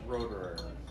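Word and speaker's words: Roederer: The Cristal is Roderer.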